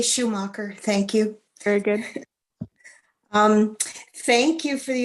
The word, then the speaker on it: Schumacher: Which way do you pronounce it? I say Schumacher.